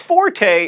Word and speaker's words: forte: even bother saying its forte is an Italian word that means loud your fort is something that you're good at or the strongest part of a sword like one of my